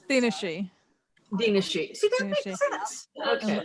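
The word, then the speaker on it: Daoine Sidhe: I've been pronouncing that Sith forever. Oh yeah, she. Daoine Sith is what's the real pronunciation? Dinashi.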